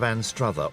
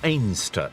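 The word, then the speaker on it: Anstruther: kicks off in the coastal town of anrather or aner as the locals pronounce it a small fishing Village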